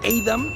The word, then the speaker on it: Edam: en Holanda el queso aidam que es así se pronuncia en holandés y el queso jauda